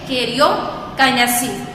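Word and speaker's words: karyokinesis: ठीक है, इसको क्या प्रोनाउंस करेंगे? कैरियोकाइनेसिस।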